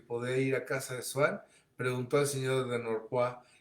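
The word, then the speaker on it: Swann: al medio social de Swan. Pronunciaba Svan. ¿Quién sabe?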